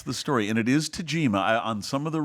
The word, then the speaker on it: Tagima: of the reviews online I've heard people say Tajima as if it's like a Z but I checked with Ernie Lansford and in his Tajima it's a soft G like the word garage and and I just